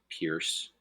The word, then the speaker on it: Pierce: So we were just talking, between Taft and Pierce. Pierce rhymes with fierce.